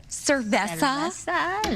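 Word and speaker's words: cerveza: You know, it's kind of like a sip of beer or cervesa. And then uh That's the way you say it. Cvesa little Montello.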